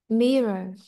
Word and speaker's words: mirror: Mirror. À, mirror. Vậy đã thấy âm ngang rơi vào âm tiết 1.